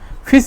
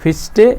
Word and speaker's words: Fichte: है वो क्या है, FICHTE, फिश इसको ऐसे बोला जाता है। इसको आप जैसे उच्चारण करें FICHTE। फिर से मैं यहाँ पर लिख दे रहा हूँ FICHTE, फिस्टे या फिश इसको करके बुलाया जाता है।